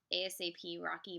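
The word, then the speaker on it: A$AP Rocky: it um I don't I supposed to pronounce this ASAP rocky but it's a quite it's a sign that dollar sign ASAP Rocky I don't know he's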